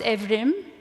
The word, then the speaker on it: Evrim: brother's name is pronounced evrim in Turkish and I should use that pronunciation since I speak Turkish but I always tend to just say evram almost like Ephraim um but it's yeah